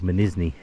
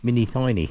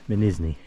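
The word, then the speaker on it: Mînî Thnî: for some time because it looks like mini tiny on the sign but apparently it's pronounced minisney so I'm gonna take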